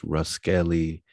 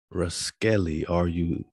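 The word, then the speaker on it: Ruscelli: This Ruskelly 1598, let's zoom in. Everywhere, boss. Ruskelly, Ruskelly, R-U-S-C-E-L-L-I, 1598.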